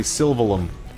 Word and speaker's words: Sylvalum: No, it's actually Sylvalum. Like you're mumbling.